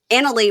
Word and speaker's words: Annalie: Annalie, we're supposed to say Annalie. We were saying it wrong.